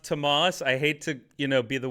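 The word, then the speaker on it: Tomales: it's pronounced Tamales.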